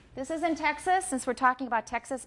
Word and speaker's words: Texas: Okay, 德州, Texas. What vowel do I have in the second syllable of Texas? It's a schwa, definitely a schwa.